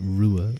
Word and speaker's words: Ruadh: you asked so nicely my name is pronounced Rua U Rua so the last part is sort of like a like quilt wait no qu yeah qual sorry I use quilt to kind of explain the sound the Q